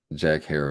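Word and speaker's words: Herer: So So that was his favorite joke was Jack Jack hair like Jack terror.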